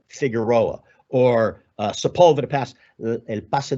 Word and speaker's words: Figueroa: Latino in Southern California, pronouncing the names like Figueroa as opposed to Figueroa, or Sepulveda Pass, El Paso de Sepúlveda at times.